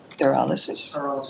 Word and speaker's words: pyrolysis: Our next item is a discussion item, and that's renewable transportation fuel from pyrolysis. Am I saying it correctly? Is it pyrolysis? That's correct, very good.